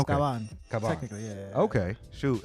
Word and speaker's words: Caban: It's Caban. Caban. Yeah. You got to put the. What is your ethnic background? I'm Puerto Rican. So it's okay. Caban.